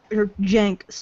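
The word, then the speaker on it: Cenk: It's a C. I'll be bugging if a C is pronounced J.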